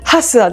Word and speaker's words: HASUA: これは日本語だからあの英語の方とか発音どうなんだろう ? すごい全く考えてなかったんだけどハスラではい。母員読みでお願いします。